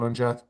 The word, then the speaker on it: Ondaatje: I wouldn't bother if you if unless you're obsessed, but um Minghella and and the um and the author Michael Ondaatje Ondaatje. How do you pronounce it?